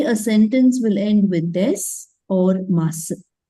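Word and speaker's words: です: If it is desu, it is an accent, the slang of a particular prefecture. If you say desu, also not wrong. But if you stick on to the Tokyo slang, you will pronounce it with des.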